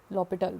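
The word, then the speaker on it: L'Hôpital: the correct pronunciation, L'Hopital rule.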